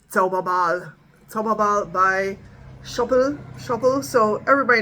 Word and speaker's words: Zauberball: So this is I know they're like English pronunciations of this, but for me it's a Zauberball.